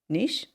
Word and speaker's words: niche: Niche? Niche. Niche. Yeah. It's how you say it in America. Niche is how we say it here in, real England.